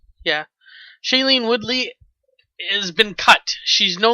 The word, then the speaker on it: Shailene Woodley: played by uh shailene how do you pronounce this name shailene weedley woodley uh whatever shaylene i guess would be it i guess it's woodley woodley with the woodley yeah shailene woodley has been cut she's